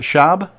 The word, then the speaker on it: Shaab: name is it Shaab well you actually got it right most people pronounce it with a W for some reason but yeah that's the